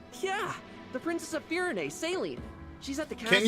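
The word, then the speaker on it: Céline: Yeah, the Princess of Firene, Saline. She's at the castle. Can you just spell it like it's pronounced?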